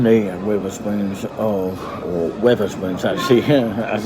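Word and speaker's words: Wetherspoons: So I'm in the river spoons of or Weather Spoons actually as it's pronounced of Red Line in that the famous pub that I actually had a photograph with Tim Martin the chairman.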